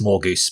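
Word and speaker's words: Morgause: serve queen morgan no more goose or more gauss priest is pronounced more goose but whatever i bring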